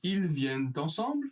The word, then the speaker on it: ils viennent ensemble: Donc ils viennent ensemble ce soir. Attention à la liaison. Ils viennent ensemble.